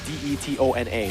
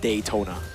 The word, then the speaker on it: Detona: And it's it's like it's spelled D E T O N A. So it's detona. It's not Daytona.